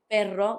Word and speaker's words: perro: You would try to make that r a bit harder with perro when you mean a dog than when you mean pero.